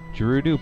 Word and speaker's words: Gerudo: Up above, there's a Gerudo pirate fortress. I always called them Gerudos. Gerudo. I've always pronounced the J.